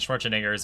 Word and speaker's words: Schwarzenegger: Madonna doesn't have a last name, and Schwarzenegger's is Schwarzenegger. 4 syllables.